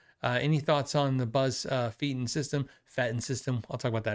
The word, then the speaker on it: Feiten: And one day I asked him, I said, "Hey, how do you say Buzz? Is Buzz Feiten or Buzz Fetten?" He goes, "It's Fetten."